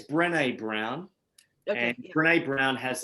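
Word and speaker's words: Brené: renee she she's wonderful it's brene b-r-e-n-e with like a accent on the e and brown okay and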